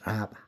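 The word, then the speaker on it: רבה: 라바입니다. 라바. 라바라고 읽습니다. 라바.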